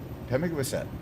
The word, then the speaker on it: Pemigewasset: So don't ever mispronounce it. Pemigewasset.